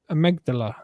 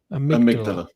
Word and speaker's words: amygdala: Amygdala. Is that how you say it? Amygdala.